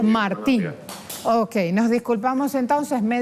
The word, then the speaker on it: Martín: ¿Con acento o sin acento en la I? Con acento en la I, sí. Martín.